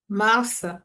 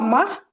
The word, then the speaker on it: mars: Mars. Voilà. Merci. Merci Fanta. Oui, c'est Mars. C'est pas Mars. Dans ce cas-là, ce S il il se prononce.